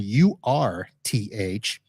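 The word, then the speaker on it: Urth Caffé: So I was looking for Earth Cafe, spelled EARTH, and it's actually Earth as in URTH, and cafe is spelled with two F's.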